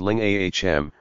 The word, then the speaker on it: lingam: The Sanskrit word for the male sexual organ is lingam, pronounced ling-ahm. Ling rhymes with sing, and is loosely translated as wand of light.